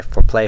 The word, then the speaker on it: For Play: Now, if you want to know the basics of Fire Emblem, I suggest looking at my For Play Fire Emblem walkthroughs, accent on the play, not the for.